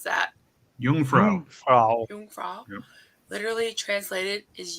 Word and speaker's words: Jungfrau: In German, the word for virgin is also, how do you pronounce that? Jungfrau.